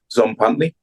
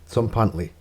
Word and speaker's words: Tzompantli: I'm going to try and pronounce it correctly. Yeah, Tzompantli. Tzompantli. Tzompantli.